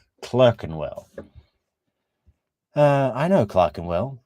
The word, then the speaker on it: Clerkenwell: while and London in Clark andwell but she she pronounces Clark andwell clerkenwell uh I know Clarken